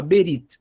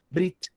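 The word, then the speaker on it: ברית: Então, quando você vai escutar nos círculos acadêmicos, tudo a língua hebraica, o pessoal fala berit. Mas quando um judeu fala essa palavra, fala brit, juntando aí a sílaba, fazendo uma coisa só, brit. Mas na prática, os judeus falam essa palavra especificamente como brit.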